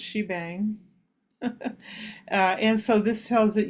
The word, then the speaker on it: shebang: It's pronounced shebang.